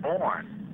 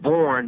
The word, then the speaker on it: Borne: some concern that when people would hear your name pronounced Borne, that they might get you confused with the name Barnes.